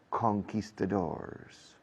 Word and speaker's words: conquistadors: It's about the fight between the Indians and the Spanish conquistadors. Fijaos cómo lo digo. Es una palabra española convertida al inglés, mal pronunciada, pero a lo inglés, conquistadors, against the Araucanian Indians in what is today Chile.